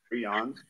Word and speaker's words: prions: They're not pronounced proteins, but prions that exist naturally and in our nervous system.